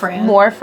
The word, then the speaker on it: Morfran: So, how the heck do you pronounce her son's name again? Morfran.